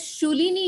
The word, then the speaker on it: Shoolini: both from i think you call it as shulini university that is right am i right that's the right pronunciation you are perfect okay okay so on